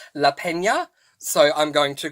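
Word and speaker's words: Lapena: this book the couple Next Door by Shah Leena so yeah very interestingly um in my uh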